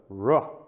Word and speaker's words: Rho: But they're not pronounced that way, right? The chi is the ch, and the rho is the ro, right?